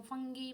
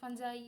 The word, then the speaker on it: fungi: organisms are called fungi एटा को तमे pronounce कर पारिबो फंगी फंजाई हला जे जहा प्रोनाउंस कर पारंती they have a different